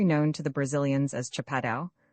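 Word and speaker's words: chapadão: It is the kind of country known to the Brazilians as Chapadau, pronounced almost as if it were a French word and spelled chapedon.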